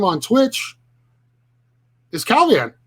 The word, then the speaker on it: Calvin: calvin and um to say my name with with a mexican accent right would be calibing right um and so that kind of sounds like cow beans and so you're reaching